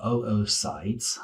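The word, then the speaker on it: oocytes: is singular um and we also call them oos sites um you actually pronounce both of the O's o sites or um oite would be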